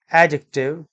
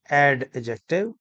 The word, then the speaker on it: adjective: alphabet so native speakers pronounce this word as adjective it is not ad ejective there are some other